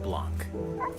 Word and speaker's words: Blanc: the snowy wilderness in the handcrafted world of Blanc. Oh, that's how you actually pronounce it.